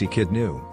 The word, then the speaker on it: Echidna: The echidna is a native of Australia and New Guinea, pronounced echidnu.